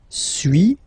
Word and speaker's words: suis: So first one, suis, as you've been noticing, you don't pronounce the final S, okay.